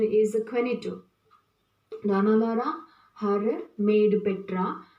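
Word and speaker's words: Juanito: characters, Don Gonzalo, and here it seems the pronunciation as Jonito, but it's not Jonito, but it is the Spanish word. The Spanish pronunciation is Quenito.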